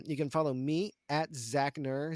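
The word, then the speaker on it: Zachknerr: can follow me at zachner z-a-c-h-k-n-e-r-r silent k is our killer um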